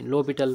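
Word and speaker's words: L'Hôpital: हॉस्पिटल ल हॉस्पिटल rule यानी लो बिटल बोलते हैं प्रोनाउंस करते हैं तो लिमिट एक्स टेंस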